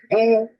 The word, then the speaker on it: Boule: Known as Boule, pronounced Boule. The group is here. See, Boule, B-O-U-L-E.